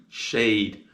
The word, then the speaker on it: shade: shade under the tree shade and the sounds of shade are sh a d shade and this word also has the final silent E and it makes the a say a the next word on